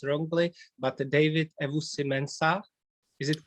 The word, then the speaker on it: Ewusi-Mensah: pronounce your name so correctly please if i pronounce wrongly but david evo simensa is it correct you did a great job